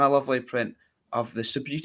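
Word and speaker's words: Subbuteo: Signed Richie Byrne match-worn boots and a lovely print of the Subutio. Is it Subutio? Yeah, that's how you say it. Yeah, I've said it right.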